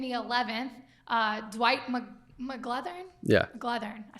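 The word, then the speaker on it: McGlothern: McGlethern, I said it right.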